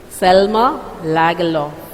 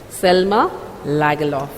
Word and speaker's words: Selma Lagerlöf: Selma Lagerlöf. Okay? That's her name. It should be pronounced like that. It's a Swedish pronunciation. Selma Lagerlöf.